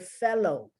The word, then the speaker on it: fellow: you have the word fellow f-e-l-l-o-w the l-l is pronounced like the l just the l so the l depending